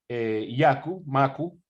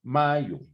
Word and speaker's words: Mayu: Julio Vicencio es miembro del centro MACU, perdónenme, pronuncio mal, Mayo.